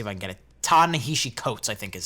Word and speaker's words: Ta-Nehisi Coates: Ta-Nehisi Coates, I think is how you say it.